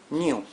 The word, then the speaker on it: GNU: el día de hoy New GNU. Sí, GNU se puede pronunciar de diferentes maneras. Una de las pronunciaciones es new, porque suena como el new.